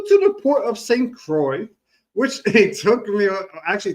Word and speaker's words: Croix: I was like how do you say this is Crocs C you know I could not pronounce it. So it's the same it's the port of St. Croy T was a high of 83.